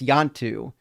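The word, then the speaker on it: Ianto: I think it's a hard I, so it's Yantu, if I remember correctly.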